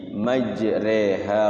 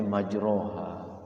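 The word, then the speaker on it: مجراها: naik kapal laut itu jadi bacanya diekan fathah tidak kasr juga tidak tapi dia cenderung ke I tapi tidak I tapi jadinya e majre tulisannya majro kalau kita tidak talaqi seperti ini khawatir kita bacanya majroha Begitu pun pun ada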